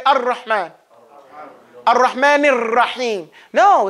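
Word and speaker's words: الرحمن: As opposed to those people who improperly pronounce the raw. And they push it too close and the tongue touches the teeth. Ar-Rahman. No, we don't say that. We say Ar-Rahman.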